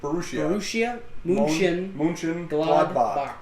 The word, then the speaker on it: Borussia Mönchengladbach: Borussia Mönchengladbach.